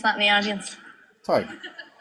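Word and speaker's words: Tadhg: Does anyone know how to pronounce that in the audience? Tig.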